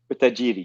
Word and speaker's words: utajiri: so you went that then you went to UT jiri this one's a hard one for me to pronounce is it UT jiri utajiri yes it's a Swahili word which actually means